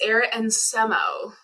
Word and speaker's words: Arit Nsemo: Cs at C spring did I get your pronunciation correct it's Eric and SEMO oh God I was so close I got